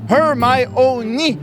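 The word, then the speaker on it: Hermione: l'introduction de Victor kroom le personnage dirait her my au lieu de her my on ce qui serait une façon que ses lecteurs puissent bien prononcer le nom de d'ermiion fondé ou non fondé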